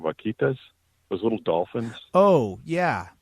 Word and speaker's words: vaquitas: on with the, I can't say the word, vaquinos or whatever those dolphins are up there. It's amazing right now, too. It's a sad story. The vaquinos? The I'm saying it wrong. Vaquitas, those little dolphins.